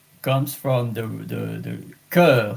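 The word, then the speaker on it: cœur: e in English comes from the the the cur C O E U R and now there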